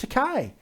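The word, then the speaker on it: Takei: know people I mean George teai te excuse me rhymes with tupe uh Jo he he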